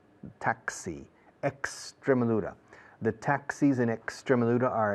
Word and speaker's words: Extremadura: The rule in Spanish is la X antes de un consonante es como S. Extremadura, no Extremadura.